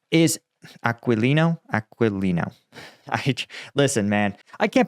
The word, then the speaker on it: Aquilino: indopacific command Admiral John aino uh and Admiral aalo is aquilino aquilino listen man I can't pronounce anything correctly okay come me a break